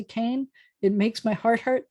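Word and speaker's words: כן: Can means yes, can. And here's one. I learned to say cane. That's how I learned how to say yes. Any Israeli is not going to say cane.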